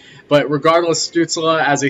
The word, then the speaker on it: Stützle: I know I've been saying Stutzel in my previous videos, but I believe the correct pronunciation is Stützle.